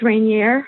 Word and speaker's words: Rainier: becoming a princess and her wedding to Prince Rainier, I think is how you say his name, of Monaco.